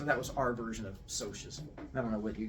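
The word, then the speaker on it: Socs: the entire book, and there's every chance you're going to start pronouncing it as socks instead of socius, which is fine. I'm used to it. But it's called socius because it's short for the word socials.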